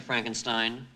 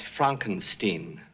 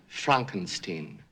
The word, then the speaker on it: Frankenstein: have one question dr frankenstein that's frankenstein i beg your pardon my name it's pronounced frankenstein but aren't you the